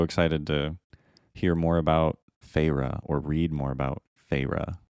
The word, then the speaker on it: Feyre: Feyre. So now that's how I read it every single time. Well, that's how it's pronounced.